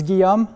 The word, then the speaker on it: Guillaume: I'm Guillaume. Please don't get creative with the pronunciation of my first name. It's Guillaume.